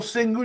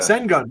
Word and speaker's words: Şengün: how does this guy get the crazy little Şengün?